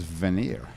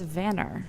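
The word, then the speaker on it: Vanir: was interesting that the name of the construction company is Veneer. Well, it's Vanner. It's pronounced Vanner. It's pronounced Vanner because it's after these.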